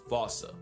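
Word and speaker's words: fossa: Anyone who had a childhood like mine would pronounce it the same way I've been doing. But if you follow the atenboro rule, Sir David would have had you saying fauca.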